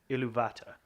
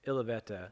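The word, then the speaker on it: Ilúvatar: But yeah, I understand that Martin Shaw in the audiobook or whatever, you'll hear him say Iluvata is how he will say it.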